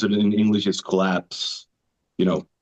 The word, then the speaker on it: KLPS: And after a little while, we decided to just rebrand it to call ourselves KLPS, but it's still pronounced collapse.